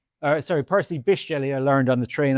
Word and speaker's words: Percy Bysshe Shelley: Percy Bysshe Shelley, uh sorry, Percy Bysshe Shelley, I learned on the train on the way